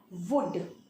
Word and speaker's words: would: जैसे कि यहाँ पे एल है, स्पेलिंग में तो है पर उसका साउंड नहीं है. ये एल स्पेलिंग में रहेगा पर उसका साउंड नहीं रहेगा. ठीक है. वुड, इसका प्रोनाउंसिएशन है वुड.